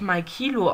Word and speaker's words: Maikilo: So, Maikilo wird Maikilo ausgesprochen, fragt: Womit nimmst du auf?